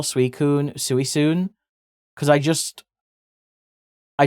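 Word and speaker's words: Suicune: So I used to call it suiun but I call it suicun now.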